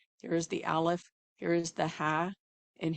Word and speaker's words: Aleph: And so that Ha is that, let me say about the Aleph, because the Aleph in and of itself is a silent letter.